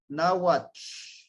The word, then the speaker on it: Náhuatl: Y se pronuncia el TL, es el náhuatl, náhuatl, at, ¿sí? Pegamos la lengua hacia el paladar y sacamos el aire a los lados.